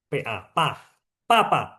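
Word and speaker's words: 爸爸: BA BA. Kan kita udah tahu ya. BA kan bacanya P. PA. Pa. Papa.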